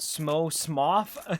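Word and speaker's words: Smough: But he pronounced Smoth. Ornstein and Smoth.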